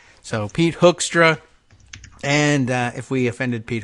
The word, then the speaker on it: Hoekstra: I was like, oh, it's H-O-E-K, like Van Leeuwenhoek, the 18th century biologist, Van Leeuwen. I don't know why I remember the name, but spelled the same way with the H-O-E-K. So Van Leeuwenhoek.